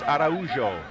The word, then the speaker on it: Araujo: Paulo Araujo wins a throw-in for Zinho's Miami FC, and it was Zinho who made sure that that was the right pronunciation. He said it's a Brazilian name. It's Araujo.